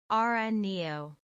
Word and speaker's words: Araneo: I'm willing to bet you've never tamed one of these guys and have probably been pronouncing his name wrong this entire time. Ara Neo.